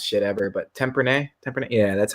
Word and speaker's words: Tempranillo: I can't pronounce shit ever, but Tempranillo?